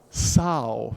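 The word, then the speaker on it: São: so Paulo soon so how do you pronounce the next word in Portuguese Sao yes big ow big out you might be confused as to why there's an a if it's not ah right so it's the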